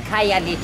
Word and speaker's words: Khayelitsha: Well, thank you for helping me pronounce it. Khayelitsha. Khayelitsha, yeah.